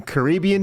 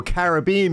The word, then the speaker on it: Caribbean: Gee, why people cannot be involved with using Caribbean music or Caribbean music, Grace, that's how you pronounce it, for their own entertainment values.